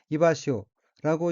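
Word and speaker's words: 居場所: 둘째 줄 오른편 어휘는 한자가 한국어로 거장소이고 살거, 마당장, 바소, 자로 되어 있고 일본어로는 이바시오라고 읽으며 이바시오는 있는 곳, 앉을 곳, 거처라는 의미입니다.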